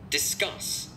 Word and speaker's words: discuss: Discuss. À, ở đây người ta đọc là discuss đúng không? Discuss cũng lên giọng ở âm số 2 luôn.